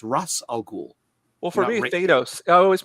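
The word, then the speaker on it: Ra's al Ghul: and then like or like race al Ghul or Ras Al ghoul or you know it's just yeah it's Russ all cool well for potatoes I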